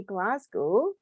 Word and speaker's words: Glasgow: I say Glasgow. Glasgow. If you're glass, your glass.